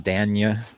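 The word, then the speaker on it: Dañ: place in the future, he has a pronunciation, the Spanish pronunciation symbol over the N, so it's Danya.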